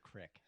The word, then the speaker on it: creek: Well, it's spelled creek, but people still say crick.